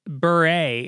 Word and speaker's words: Bure: He says, Valerie Bure, pronounced Bure, apparently, who's the guy I made fun of last week.